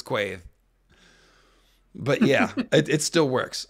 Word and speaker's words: Quaithe: So Quaithe is pronounced Keith. No, I'm pretty sure it's Quaithe.